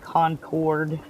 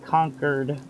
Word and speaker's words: Concord: When I first started playing this, I called it Concord. So, you'll hear me say that sometimes, but I guess it's supposed to be pronounced conquered, as in conquered the world kind of stuff, I guess.